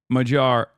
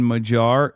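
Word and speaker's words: Magyar: The G sound in Majar is a hard G. No, it's not. It's Majar.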